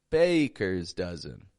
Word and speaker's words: Baker's Dozen: day a Baker's Dozen Baker's Dozen notice the syllable stress there bers dozen a Baker's Dozen a